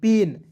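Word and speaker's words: pain: पी का प लिख देना है, ए आई है तो एक एक ले लगाइए, एन है तो न लिख देंगे, तो क्या हो जाएगा पी ए आई एन, पेन। पाइन नहीं पढ़ेंगे, पेन पढ़ेंगे।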